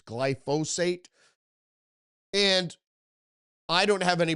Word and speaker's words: glyphosate: And I keep saying glyophate. I've been saying it wrong for years. It's glyphosate.